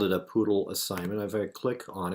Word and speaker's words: PoodLL: in you might have heard about is called poodle it's spelled p 00 d ll and what it